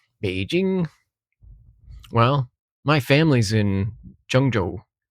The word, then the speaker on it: Zhengzhou: Well, my family's in Jung Jo. Jung Jo. Yeah, that's how you pronounce it.